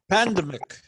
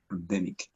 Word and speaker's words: pandemic: Pandemic. The accent is on the second syllable. Pandemic.